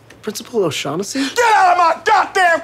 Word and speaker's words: O'Shaughnessy: Oshag Hennessy! Principal O'Shaughnessy?